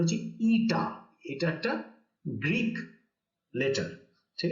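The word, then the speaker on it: η: ঠিক আছে, উচ্চারণটা লিখে দিচ্ছি এখানে, এই যে এইখানে দেখো, এই যে নীল রঙে লেখা আছে, এর উচ্চারণটা হচ্ছে ইটা।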